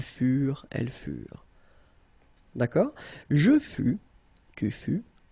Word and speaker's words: furent: Keep in mind that ENT, you know, the ending for the plural form is never pronounced, though. Furent, okay? Ils furent, elles furent.